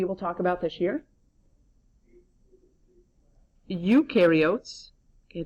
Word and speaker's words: eukaryotes: Eukaryotes, okay, that E is silent, eukaryotes.